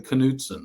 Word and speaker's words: Knudsen: from, or Northern Europe, people don't pronounce the K and N together.